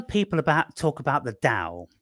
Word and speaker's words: Tao: Ching um what is that with that the Dow I've heard of it but I never D too deep into that right so when people about talk about the da it's spelled Tao um and it B can